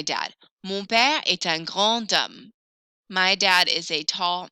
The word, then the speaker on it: grand homme: I'm going to pronounce that D kind of like a little T.